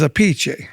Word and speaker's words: Appice: you're the way you really pronounce your name is a PC right yeah a piece well a piece a piece the Italian is a pach a p but you changed it because everybody kept mispronouncing it yeah yeah I changed